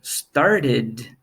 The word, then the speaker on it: started: example celebrate celebrated right start started so it ends with an ED sound and finally we have